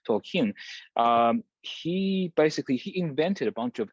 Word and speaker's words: Tolkien: Tolkien, the writer of The Lord of the Rings, and he actually the stress is on the final syllable, so it's actually not Tolkien, but Tolkien.